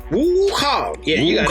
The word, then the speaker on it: Wukong: Wukong. Yeah, you got Wukong.